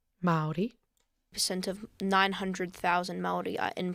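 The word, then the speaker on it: Māori: took a little bit extra time to actually pronounce the name right. Maori.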